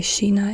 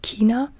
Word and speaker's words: China: H as an example China is sheina in German or H I think Hina is the correct German Standard Version and you say Sheena in the north of Germany and in the south of Germany you would say Kena I think sometimes maybe I don't know but as an